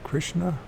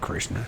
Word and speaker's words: Krishna: did I say that that's Krishna it's not chrishan Coran let's see how